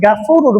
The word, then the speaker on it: غفور: হবে ওয়ারহামনি ইন্নাকা আনতাল গফুরুর রহিম, এখানে অনেকজন গাফুরুর বলে থাকে, এখানে শুদ্ধভাবে উচ্চারণ করতে হবে ইন্নাকা আনতাল গফুরুর রহিম।